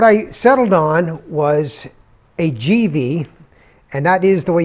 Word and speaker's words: Givi: box now what i settled on was a gv and that is the way you pronounce it according to the company i know